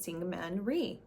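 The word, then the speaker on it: Syngman Rhee: results and they had elected a gentleman named Singman Ree I believe is how you pronounce his name and he ordered guess what more police officers to the island.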